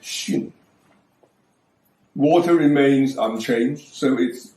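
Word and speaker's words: 巽: Above is the old pronunciation sun. Now it is pronounced shin.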